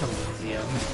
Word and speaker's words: Elysium: But, like, like, Elysium is one of those words where I'm like, it's Elysium. Like, you can say Elysium, and you can be wrong, that's fine, but you are wrong.